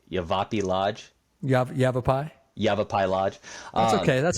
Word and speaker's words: Yavapai: Yavapai.